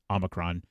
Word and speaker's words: Omicron: So I have put together every single time in Star Trek that they have said Omicron. So everyone out there will know how to pronounce it correctly.